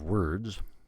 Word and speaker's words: word: so you can we're it's spell with an O ignore that o we don't say any vowel there's no vowel in the word word s were so you